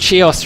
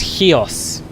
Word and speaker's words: Chios: ah demetrius thank you i pronounced chios wrong in my last video it's in fact heos there you are you